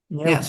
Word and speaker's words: Neeltje: And Neeltje, how do you Neeltje. pronounce Neeltje?